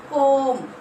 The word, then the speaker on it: comb: Comb we cannot say. We have to read that one. Comb. Means what is the silent letter here? B. B you have to circle.